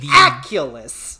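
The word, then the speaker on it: Aculos: Because it sounds like Oculus, but it's the Aculus.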